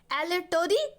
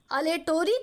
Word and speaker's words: aleatory: एक कॉन्ट्रैक्ट होता है बच्चों, आपने इसका नाम नहीं सुना होगा, एलेटोरी कॉन्ट्रैक्ट। अलेटोरी कॉन्ट्रैक्ट या अलेटरी कॉन्ट्रैक्ट या एलिएटोरी कॉन्ट्रैक्ट, लोग इसे वैरायटी में इसका प्रोनाउंसिएशन उच्चारण करते हैं।